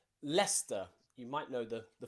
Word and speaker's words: Leicester: that's it okay recent there are places like leicester and gloucester and worcester okay and nearly all of these you have a c in them that is completely silent okay lester you might know the